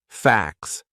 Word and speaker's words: facts: fa a c TS so that would be a silent T it's in between a c and an S two consonant sounds facts and it sounds exactly the same as FX FX then we have something